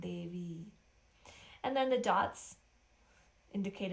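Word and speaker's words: देवी: And again, over the I in Devi, it creates a long E sound, Devi.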